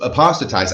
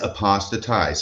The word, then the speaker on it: apostatized: time they mispronounce it so it's apostatized I had to learn that early on as a um as an apologist for the LDS church but it is apostatized and so that's what